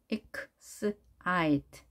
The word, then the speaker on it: excite: excite. I에 강세가 있습니다. excite. 이때도 이 소리가 모음 E입니다. excite. I로 읽은 이유 뒤에 E가 숨어 있기 때문에 그렇죠.